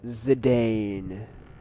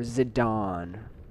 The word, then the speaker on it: Zidane: whole fight again yes I'm zidane if you want to pronounce it correctly or zidon I don't know it just sounds weird to me ziden sounds so much more natural he's not here but